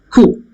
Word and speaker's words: coup: That is coup. P is silent, not P is not pronounced.